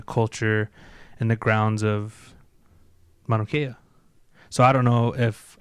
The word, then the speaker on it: Mauna Kea: construction of the 30-meter telescope on top of Mauna Kea. Is that how you say it? Mauna Kea.